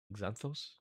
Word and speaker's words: Xanthos: I assume you pronounce the X. Xanthos.